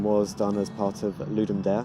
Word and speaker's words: Ludum: done as part of ludum or ludar apparently as it's pronounced we got the theme